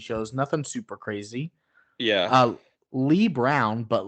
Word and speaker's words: Leigh: Lee Brown, but Lee spelled like my mother's middle name, Leigh. So like slave, but with no S.